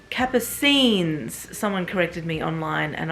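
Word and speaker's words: Capucines: wrong this whole time it's not cappuccines like cappuccino which I always thought it was because spot the same um it's Kappa scenes someone corrected me online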